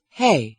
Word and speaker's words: He: It is its own principle, and the place of conception of and birth of the second He, pronounced Hay, Hay. The second He is the offspring of Yod and He, the result of their interaction, their subsequent creation.